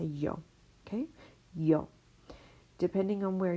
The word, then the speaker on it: yo: on where you are this yo might be pronounced a little bit differently if you know Argentina it's gonna be show if you're in parts of Mexico it's gonna be more like a Joe Joe but yo you can